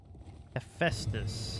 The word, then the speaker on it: Hephaestus: How did you pronounce that? Hephaestus. You don't know how to say that. Hephaestus.